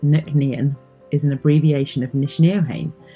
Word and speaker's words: Nc'nean: a beautiful corner of the world our name pronounced Nick nean is an abbreviation of Nishan known as the